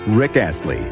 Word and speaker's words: Rick Astley: Derek Ashley's Alter Ego his name properly pronounced is Rick Ashley Rick climbs three notches